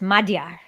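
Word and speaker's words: Magyar: called like magar oh it's pronounced like more like a d it's Madar yeah that that's right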